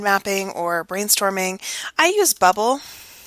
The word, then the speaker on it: bubbl.us: I use bubbl.us (pronounced like bubble.)